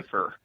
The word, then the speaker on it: Pfeiffer: Pfeiffer. Pfeiffer. The F is silent.